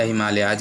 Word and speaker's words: Himalayas: हिमालय या हिमालयाज इसको बोलते हैं, इंग्लिश में हिमालयाज बोलते हैं, हिंदी में हिमालय बोलते हैं।